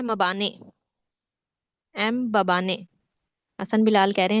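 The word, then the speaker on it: Mbabane: A very sweet language मबाने मबाने बाबा ने शुरू में एम मैम को साइलेंट कर दें बाबा ने याद करने के लिए इस वातिनी का पुराना नाम जरूर पूछा जाएगा।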